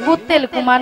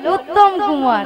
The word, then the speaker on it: উত্তম কুমার: মাব শোন মাসি তুমি দাত মাবে ভালো করে উচ্চারণ হবে বল শ্রীশ্রী শ্রী শ্রী শ্রীশ্রী উত্তেল কুমার নয় বল উত্তম কুমার কুমার নিয়া পড়ি আমি কুত্তেল কুমার কইছি আর